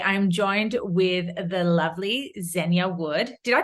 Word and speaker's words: Zenia: fitness coach today I'm joined with the lovely zenya wood did I pronounce that right by the way you did yeah Zenia perfect Zenia there cool because there's nothing worse